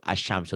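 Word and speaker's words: الشَّمْسُ: Sementara kalau alif lam samsiah, tulisan dan bacaan berbeda. Kok berbeda? Ditulisnya ada alif lamnya. Ada alif lamnya. Ya. Dibacanya lamnya nggak ada. Tuh contoh Bu, asyamsu tuh.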